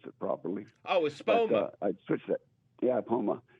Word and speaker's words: Espoma: The growing medium at that time was something from Miracle Grow, but I've since switched to Aposa for this year. Aposa, I can't pronounce it properly. Oh, Espoma.